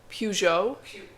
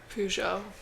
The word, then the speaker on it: Peugeot: Mom, how do you pronounce Peugeot? Peugeot? Peugeot. Okay. It's French. Peugeot.